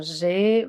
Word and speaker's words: j'ai: Recuerden, ahí pronuncian E. Alors, vous allez dire j'ai 24 ans.